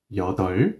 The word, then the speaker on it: 여덟: Okay, so let's use this counting unit and say T 여덟. Once again, listen carefully. I am not pronouncing the B. It's going to be silent.